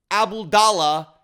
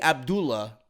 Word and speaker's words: Abdullah: steel cage match at King Abdallah Hawk I'm sorry King Abdullah sorry I'm a goon for mispronouncing it Sports City Stadium in